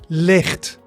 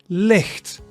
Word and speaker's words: licht: And it sounds softer the further south you go. So I'm from the south, so my pronunciation is softer. So in the north, they say more like licht, licht, right? They say it like that.